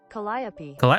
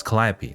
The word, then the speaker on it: Calliope: Calliope. Oh my god, how did I not know this? Calliope. There you go. Calliope.